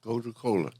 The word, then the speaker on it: Gotu Kola: today we are going to be talking about go to Cola yes did I pronounce that right yeah go to Cola g t u k no there two words